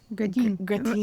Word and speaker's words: gratin: He pronounces it like gratine.